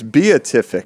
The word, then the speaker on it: beatific: what is it Brandon I think it's beatific beic it's a word it's